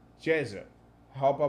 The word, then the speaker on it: Ceza: i pronounced it wrong i said caesar but according to my turkish friend it should be jesus i hope i pronounce